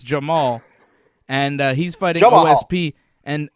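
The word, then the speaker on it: Jamahal: j-m-a-h-a-l and it's pronounced jamal i thought it was jama hall but it's not it's jamal and he's fighting osp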